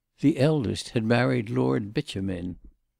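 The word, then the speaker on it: Beauchemin: eldest had married Lord bitumen mr. freer had called quite the right pronunciation of this name successfully sounded as bitumen lady Lucretia had done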